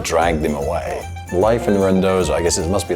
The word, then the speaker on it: Randazzo: Randazzo.